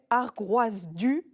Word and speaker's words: Ar Groaz Du: fêté ses 10 ans cette année elle s'appelle argroise du je le prononce bien Jeanne tout à fait ça veut